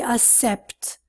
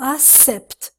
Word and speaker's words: accept: you accept my apology you know what most the students say they say accept wrong not us except I could cook except - except will you accept my apology now many students look at these letters and they think about the alphabet they think ABC oh ok to accept wrong the pronunciation is to accept to be particular to